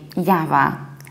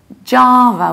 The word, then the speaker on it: Java: is this one and we don't say Java in the British accent we say Java Java with a very long ah jar and a very reduced finger a Java Java however in the American accent we do something totally different we say Java Java was very broadly open mouth Java so in British accent we say Java I mean American one we say Java and another very popular